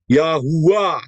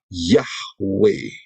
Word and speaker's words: Yahweh: Itu penyimpangan dan ingat ya, kalau mau disimpangkan berarti mau menurut aturannya setan. Aturannya Satan ya. Kita tidak mau mengikuti aturannya Satan karena itu pengucapan yang benar adalah Yahweh.